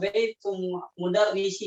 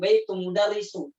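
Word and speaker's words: بيت المدرس: Ini bersandar dengan isim ma'rifah, baitul mudarrisi. Jadi bukan baitul mudarrisu. Perhatikan teman-teman, banyak yang salah baca. Tatkala dia mudhaf atau disandarkan, bacanya di doma terus ini nih. Nggak boleh, harus dikasroh.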